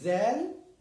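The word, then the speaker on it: ذال: This is zal, and it's pronounced the.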